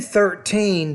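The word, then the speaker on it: thirteen: you when you say 13 then numbers of teen the stress is on the second syllable not the first yeah I think I'm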